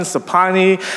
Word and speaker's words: Sophanny: and my ex, Sapi, SOPHY, and her cousin, Sapani, SOPHANNY, and my best friend, Sapik, SOPHEAK, but it's pronounced more like Sapet.